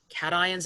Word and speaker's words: cation: as cat ions um it's pronounced as if it were two separate words so lithium and calcium